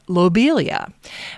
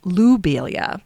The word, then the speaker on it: lobelia: Now, before researching Matthias, I pronounced lobelia as lobelia. But now, knowing the French pronunciation of his name, I will say it lobelia. It's a subtle change, lo versus lu.